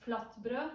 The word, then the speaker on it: flatbrød: Had flatbread, pronounced flatbrød, and butter and cold water.